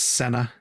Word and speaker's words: Cena: Pronounced Senna. Senna, like the driver, is he gonna star in the F1 documentary or something, or F1 biopic?